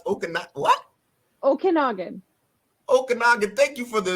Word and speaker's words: Okanagan: Please, how do you pronounce Okanagan? What? Okanagan.